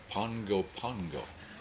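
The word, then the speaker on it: Pago Pago: a o p AO how do you pronounce thato pgo Pago no keep trying don't give up is there anybody here who's been there po no Pongo Pongo no okay you're right but that's the way they say it if you go down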